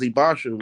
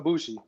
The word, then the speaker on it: Ibushi: And the leader right now is Ibasha, right? How you say his name? Kota Ibushi.